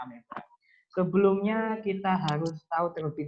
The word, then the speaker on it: amoeba: Kalau di Indonesia misalnya Soekarno, O dan E itu nanti dibaca U. Tapi kalau dalam bahasa Latin itu beda lagi. Nanti A tulisannya amoeba, O dengan E itu dibaca E. Kalau bahasa Latin seperti itu. Jadi tetap bacanya ameba.